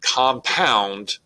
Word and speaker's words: compound: To illustrate this in a stronger fashion, the word compound is an iambic word because you've got 2 syllables. The stress is falling on the second syllable.